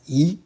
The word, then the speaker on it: 一: Note, here we pronounced E as E, second tone.